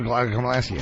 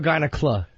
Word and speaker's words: gynecomastia: We should ask Edward Norton if Meatloaf really had male gynecomastia. Gynecomastia. Uneducated and buffoon. President Bush pronouncing gynecomastia. Is it gyneca or gynecla? No L. No, I didn't think so.